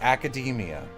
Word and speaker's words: Academia: I'm I No, it's academia. Like macadamia that any word that looks like that is pronounced.